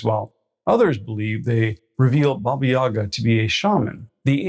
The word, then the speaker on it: Baba Yaga: of the Baba Yaga pronunciation of her name may vary depending on Regional accents and personal preferences though Baba Yaga is most common Baba yiga is also accepted the